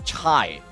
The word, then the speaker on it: Chai: did C ch Ha pronounced as Chai. Ah as in Chai T.